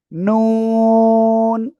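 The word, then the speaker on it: نون: নুন। জিহ্বার আগায় তার বরাবর উপরে তালুর সাথে লাগিয়ে আপনার চার আলিফটা নিয়ে অক্ষরটা উচ্চারণ হবে নুন।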